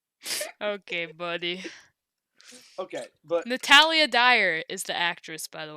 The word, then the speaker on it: Dyer: I didn't want to get her last name wrong and have you be like, it's actually Dwyer. That's what Dyer. Dwyer instead of Dyer.